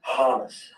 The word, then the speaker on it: Hamas: Khaled is a Harlem supporter. Okay. Who supporter? Hamas. Hamas. Hamas. Yeah. Sorry, I said it wrong.